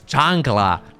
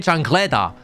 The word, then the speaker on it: chancla: low it's not even that's not even how you say it it's chancla or we don't even say changla we say chancleta anyway dudes uh lucy